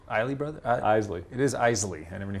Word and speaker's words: Isley: It is Isley. I never knew how to pronounce Isley.